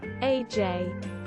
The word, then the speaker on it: aj: Swedish, aj, pronounced as the letter I.